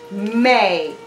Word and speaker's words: May: that mm sound and when the a and Y work together they make an a sound the Y is silent you don't hear a young so we have new egg May it's the month of